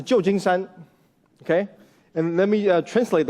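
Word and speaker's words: 旧金山: So this pronounces Jiujingshan, okay?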